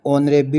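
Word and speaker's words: honourable: परंतु यहां इसकी जो प्रोनाउंसिएशन जो इसका उच्चारण है वह एच से ना हो के एच साइलेंट है। ओ से इसका उच्चारण ऑनरेबल होता है।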